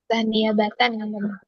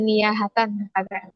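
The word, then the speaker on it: نيابةً: Niabatan tadi tadi bacanya kayak gimana emang? Tadi kalau enggak salah bacanya niahatan ya, Teman-teman juga dengar. Alhamzah niahatan yang harusnya niabatan.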